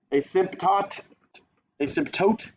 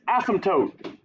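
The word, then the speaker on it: asymptote: you pronounce that word asymptot asymptot okay no so you the way you say it the p is silent like in pterodactyl you know pterodactyl has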